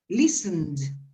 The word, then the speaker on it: listened: ¿La pronunciación o la escritura? Sí, en pasado, en past. Listen it. Listen, no. Es cine. Listened.